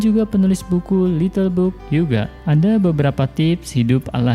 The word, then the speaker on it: hygge: Ya, walaupun tulisannya Hygge, katanya cara pengucapannya adalah Hygge.